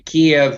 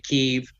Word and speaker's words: Kiev: been to i've now the russian pronunciation will be kiev ukraine kiev i want to be